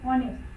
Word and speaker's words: honest: As we know that it is H there. H is silent there.